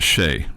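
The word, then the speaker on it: Chelly: Shelley's pronounced Shea. Okay. Canyon de Shea.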